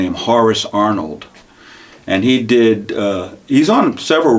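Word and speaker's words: Horacee: But you pronounce it Horace, you don't pronounce it Horace. You pronounce it Horace.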